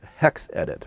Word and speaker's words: hexed.it: It's called HexEdit, but it's spelled HEXED.IT.